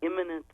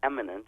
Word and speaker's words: imminent: The excuse for the killing of Soleimani was an imminent threat, although I believe he mispronounced it as eminent.